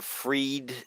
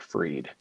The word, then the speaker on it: Fried: that goes on um Sam binkmann fried but I think they pronounce it freed it's just people would